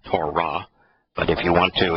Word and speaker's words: Torah: T-O-W-R-A-H, because it's written T-W-R-H in Hebrew, and both the W and the H are vowels, and so it is pronounced Torah.